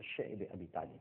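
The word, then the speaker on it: شعب أبي طالب: بعد شیب ابی طالب، جس کو بعض حضرات شعب ابی طالب بھی کہتے ہیں، لیکن جس کا صحیح تلفظ ہے وہ شعب ابی طالب ہے، ایک گھاٹی تھی، آج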